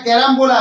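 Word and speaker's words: carambola: ইংরেজি দুটো হবে একটা হচ্ছে কি বলতো একটা ক্যারাম বোলা সি এ আর এ এম বি ও এল এ ক্যারাম্বোলা তার বাংলা প্রোনাউন্সিয়েশন কেমন হবে ক জফ আকার র আকার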